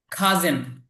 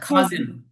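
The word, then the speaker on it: cousin: শত্রু ফ্রেন্ড মানে বন্ধু এনিমি মানে শত্রু খাজেন খেয়াল কর উচ্চারণটা খাজেন খাজেন এইযে দেখ কতগুলো হয় খাজেন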